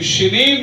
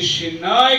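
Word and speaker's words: Sinim: अभी शिनीम जो नाम है ये शिनाय करके दूसरी भाषाओं के अंदर इसका प्रोनाउंसिएशन है. Where is the land of शिनीम ये है उसका ओरिजिनल प्रोनाउंसिएशन.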